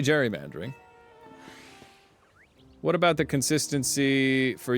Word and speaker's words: gerrymandering: The uh official correct pronunciation of gerrymandering is with the J sound.